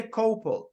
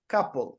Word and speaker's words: couple: U here in red you don't say cople we have exactly the same sound a a touch touch couple couple couple couple exactly the same sound okay just unusual spelling next save gate fail